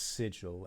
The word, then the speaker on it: Sigil: Sigil. Oh. Some mispronounce it as sigil, and honestly, it really, well, it grinds our Modron's gears when they do.